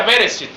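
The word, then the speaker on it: בראשית: tiene que entender que la palabra génesis es la traducción de una palabra hebrea que se pronuncia bereshit que significa principio y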